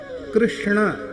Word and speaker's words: कृष्ण: कृष्ण यह शुद्ध उच्चारण प्राय कम लोग करते हैं। कृष्ण यह सही उच्चारण है।